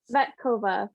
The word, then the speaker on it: Tsvetkova: Then we have, I'm so sorry, Tsvetkova? Did I pronounce that correctly? Tsvetkova, but it's okay. The T is silent.